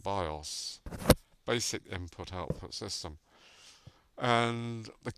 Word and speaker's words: BIOS: So it's pronounced BIOS, Basic Input-Output System.